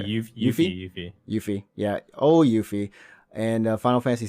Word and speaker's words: Yuffie: Yuffie.